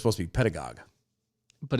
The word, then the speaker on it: pedagogue: Twitter I believe it's pronounced the same as ideologue or demagogue so it's supposed to be pedagogue but it's pedagogies which